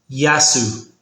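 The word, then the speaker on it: γεια σου: It's more like yasu with a soft a sound in the middle like ya then su. Give it another shot. Yasu.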